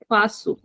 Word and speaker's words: faço: So the first conjugation of FAZER is eu faço. We are putting an accent under C, so we will pronounce this as sa, faço.